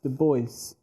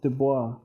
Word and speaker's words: Du Bois: the father and by the way it is pronounced the voice not dubois this is uh some some people tried to